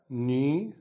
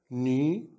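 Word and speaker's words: knee: بيقول ان الكي لما بيجي بعدها الان، الكي هنا سايلنت مش بننطقها، الكي لما يجي بعدها الان يبقى الكي ايه؟ سايلنت. الكلام ده طبعا زي الاكزامبلز اللي قدامنا هننطقها مع بعض.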